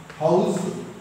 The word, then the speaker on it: house: House warming ceremony. Please note the pronunciation H-O-U-S-C. Though S is there, it is not sa, za, house.